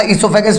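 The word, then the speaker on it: esophagus: ध्यान रखना, इसोफेगस में ओ साइलेंट है बेटा, ओ को प्रोनाउंस नहीं करना।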